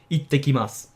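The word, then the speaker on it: 行ってきます: Now notice how the s sound at the end, just like with ohayo gozaimasu, is not really pronounced. It's, you can pronounce it again, but it sounds more feminine and more playful. It's up to you whether you want to do it or not, but I would say stick with the neutral pronunciation for now.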